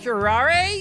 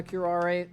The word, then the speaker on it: curare: because of south american i'm pronouncing it like it's a south american word um as opposed to assuming it's an english word because you'd have the silent e at the end of the word and which is in